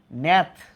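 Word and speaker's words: gnath: সেটা মনে মনে রাখ এন এটি এইচ নেথ এই জিটার উচ্চারণ উজ্য থাকবে নেথ মানে হচ্ছে চোয়াল নেথ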